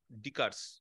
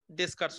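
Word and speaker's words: Descartes: দেখো এট অরিজিন এই কার্ভটাকে বলে ফোলিয়াম অফ ডিকারস ডেসকার্টস অনেকে বলে কিন্তু তো এস এর উচ্চারণটা হয় না ঠিক আছে যাই হোক তো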